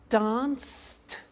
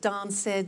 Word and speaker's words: danced: look at that watch danced eliminate the e pronounce the T danced laughed washed and walked ok now the temptation is to say watch it dan said the laffed wash it